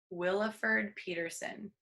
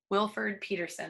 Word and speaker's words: Wilford Peterson: That's by Williford Peterson. Wilford Peterson, that's how you say his name.